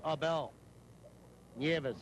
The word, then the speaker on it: Abel Neves: Here's Abel Neves. Spells his name A-B-E-L. It's pronounced Abel Neves.